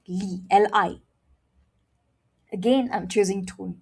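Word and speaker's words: lí: So for tone 2, you say it like this. Li, li.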